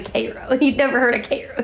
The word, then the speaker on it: Cairo: And so she kind of razzes me about it, because poor Ryan pronounced it Cairo, and it was actually Cairo.